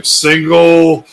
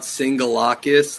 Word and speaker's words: Singelakis: Singelakis. It's a lot easier if it's just sounded out. Singelakis. The E is it's like a flat E. The E is silent. Yeah.